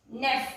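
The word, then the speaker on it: neufs: Say Say leaves on neuf. N-E-U-F-S. That means these books are new. Say leaves on neuf. Here also we will put S, but we won't pronounce it.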